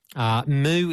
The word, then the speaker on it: MØ: Moo is the correct pronunciation.